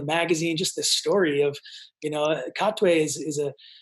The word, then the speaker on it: Katwe: Katwe.